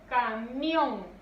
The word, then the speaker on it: camión: Y luego tenemos camión. Camión. Ahí está. Entonces, ya que tenemos identificada la sílaba tónica, pasamos a la segunda parte de la regla.